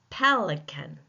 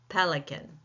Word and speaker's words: pelican: We know that by the capital letters pel. Pelican.